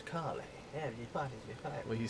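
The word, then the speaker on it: Kalle: name is kale it's kale he says it a l l e i thought it was it's k-a-l-l-e and he says his name my name is carly and he parties well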